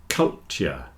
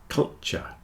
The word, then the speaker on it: culture: get cult cult but if you're speaking quickly the T joins together into a CH and you'll get culture